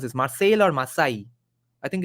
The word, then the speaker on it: Marseille: On the way to India, he tried to escape at Marseille. I don't know how to pronounce this, Marseille or Marseille.